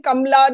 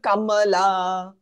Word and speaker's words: Kamala: truth to that but nobody can say her name properly even she has stopped saying kamla now she calls herself Kamala dud it makes no difference